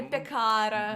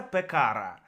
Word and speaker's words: пекара: В сербском ударение не может быть на последний слог. То есть пекара. Есть исключения же. Ну, их чуть-чуть, их мало. Там пекара. Такого быть не может.